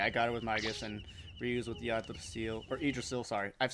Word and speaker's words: Yggdrasil: Okay, I got her with Magus and reused with Yggdrasil, or Yggdrasil, sorry. I've said Yggdrasil since I was a kid, but then over the years I learned it was Yggdrasil.